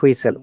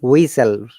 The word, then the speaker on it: whistle: Okay, so VH is silent after W normally, like what, which. Can you please pronounce these words? Yes, teacher. What, which, when, whatever, whistle, Not whistle, whistle. Remove the H.